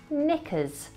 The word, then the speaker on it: knickers: Well, untwist your knickers, calm down, and let me introduce you to some silent letters, like the K in knickers. That should be silent. It should not be pronounced. So the correct pronunciation is actually knickers.